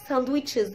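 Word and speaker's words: sandwich: انت بتشيل الدي خالص ما بتنطقهاش، لانه من قواعد حرف الدي في الانجليش انه لما بيبقى في الاغلب قبله حرف الان لا ينطق، او بعده حرف الان لا ينطق.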